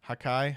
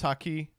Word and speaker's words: Haki: Hakai? How do you say it? I've never watched One Piece. He's damn good. He is it was Haki.